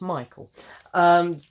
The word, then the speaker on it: Michael: I do know how to say his name, it's Michael.